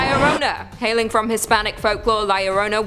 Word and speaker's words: La Llorona: Hailing from Hispanic folklore, La Llorona, which I'm pronouncing correctly now after you guys yelled at me in a previous video, is also known as the Wailing Woman or even the Crier.